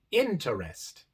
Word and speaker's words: interest: tenemos dos letras e la sílaba de medio igual es la sílaba no acentuada y por eso este e se pronuncia a mientras que la última